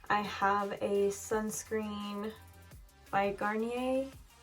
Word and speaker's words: Garnier: ordinary hyaluronic acid i have a sunscreen by garnier is how you say it um my friend